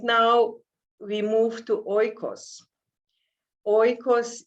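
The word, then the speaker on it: οἶκος: we move to oikos oikos is a greek word and greek pronounce it echos and when i heard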